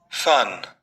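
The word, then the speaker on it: fun: इसको बार-बार बनाइए और फिर सुनते हैं और उच्चारण करते हैं। चलो आ फन अ बोलते जाइए आप बराबर बोलते जाइए।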